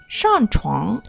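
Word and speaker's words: 上床: Getting into bed, going to bed is pronounced as 上床.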